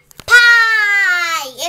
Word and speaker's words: pie: Pie. It's pie. It's pie. It's pie. It's spelled pie, but it's pronounced pie.